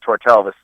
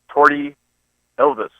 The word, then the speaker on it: Tortelvis: Of course, you know, my name is pronounced Tortelvis. Right. You hear him go, ladies and gentlemen, to sing our national anthem, please welcome Torty Elvis.